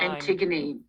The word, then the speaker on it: Antigone: She's interested to know how you, and I would like you to pronounce her name for me, how you chose Detective Pollard's first name. Antigone, yeah. Antigone, okay.